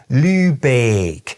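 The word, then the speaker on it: Lübeck: And this kind of thing is repeated all over northern Germany: places like “MEE-klen-burg”, “LÜ-beek” and “BROH-kel”.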